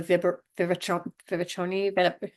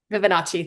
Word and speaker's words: Fibonacci: I'm going to say it wrong, but the Vivaconi, you'll say it. Fibonacci.